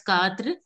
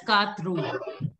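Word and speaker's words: quatre: Generally, what you all were doing it, you were pronouncing it as Katru. It is wrong. It is just, it has to be Katr. Just Katr. Katra.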